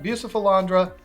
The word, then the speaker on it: Bucephalandra: For the sake of this video, we're going to call it Bucephalandra.